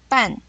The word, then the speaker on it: 半: 半，半声调第四声，半声调第四声，半，半，半，half。